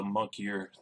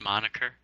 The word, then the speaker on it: moniker: and gave himself the monkier, the grand illusionist. Nobody really calls him that except for himself. Isn't it pronounced moniker?